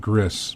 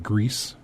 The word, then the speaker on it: Gris: was originally calling it Gris because that's what I thought gr is but the developers and stuff corrected that and said it is it sounded it's pronounced like grease so it's grease gr